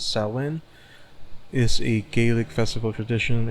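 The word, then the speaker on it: Samhain: Okay, so Sam pronounces salin is a Gaelic festival tradition occurring on the 1st of November believed to be warned of a pagan tradition.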